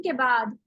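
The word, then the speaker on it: کنبہ: जैसे अंबिया जो लफ्ज होता है उसमें आप नून की जगह मीम पढ़ते हैं। इसी तरह एक और लफ्ज होता है कुंबा। कुंबा की स्पेलिंग पता है क्या होती है? कुंबा का लफ्ज कभी सुना है किसी ने? जी मैम। काफ नून बे है।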